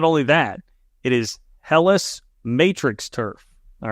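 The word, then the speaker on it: Hellas: so relatively okay not only that it is helis Matrix Turf all right of course everybody knows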